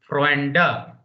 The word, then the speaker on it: Freunde: So German correct pronunciation will be Freunde, not T. D becomes T if it is at the end. Here it is not at the end.